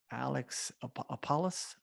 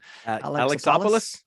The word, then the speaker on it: Alexopoulos: Alex Apollos? How do you say his last name? Alexopoulos? That's it. Alexopoulos. Is it Alexopoulos? Yeah, it has a Greek rhythm to it.